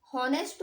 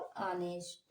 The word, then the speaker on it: honest: ऑनेस्ट, okay. ऑनेस्ट बोलेंगे हम इसे, क्योंकि यहाँ पे जो एच का उच्चारण है ये साइलेंट होता है और हम लोग इसको ONEST का उच्चारण करते हैं बस, तो ऑनेस्ट होता है।